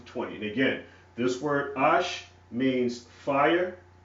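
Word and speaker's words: אש: And again, this word ash means fire, also pronounced ish, according to the vowel pointing system.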